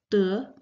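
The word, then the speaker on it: 德: as virtue in fact virtue and gain in Chinese share the same pronunciation they're both pronounced as du and so gain was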